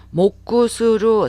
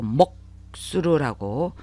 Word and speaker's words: 黙する: 목구스루 사음절어이지만 사행에 해당되는 히라가나 앞에 꾸가 왔을 때는 초고마 현상이 보통 나타나요. 그래서 회화체에서 특히나 더 그래서 목구스루라고 하지 않고 목수루라고 발음을 하시는 게 좋습니다.